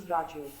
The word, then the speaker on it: Raja Yoga: one of them is Raja Yoga, pronounced as Rajyog.